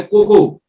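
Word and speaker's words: cocoa: है, और वो है कोको, जिसको कई लोग गलती से कोकोआ बोलते हैं। कोकोआ नहीं है, हिंदी में उसका प्रोनाउंसिएशन कोको होता है, इंग्लिश में लिखा जरूर कोकोआ जाता है।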